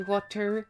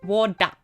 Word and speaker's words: water: Also, a lot of the time we don't pronounce T unless it's like at the start of the word or it's like heavily important in the word. But like in the word battle, we pronounce it as a D, battle, instead of battle. Or like water. You notice I don't say water, I say water.